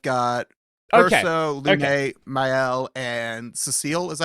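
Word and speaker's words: Sciel: No, I've got Verso, Lume, Mael, and Cecile. Is that how you say it? Ciel? Ciel, that's how you say it.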